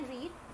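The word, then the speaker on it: read: की भी सेम है लेकिन हम इसको पढ़ते कैसे फर्स्ट फम को बोलते रीड सेकंड और थर्ड को क्या बोलते है रेड बोलते है राइट आई रेड यू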